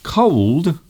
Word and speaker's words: cold: you pronounce the words cold and code I can cold cold so the sound you are making half way through the word is la la la like love cold cold and the other word